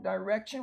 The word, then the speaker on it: direction: Next we have direction, the I in an open syllable is long, direction, what direction are you going?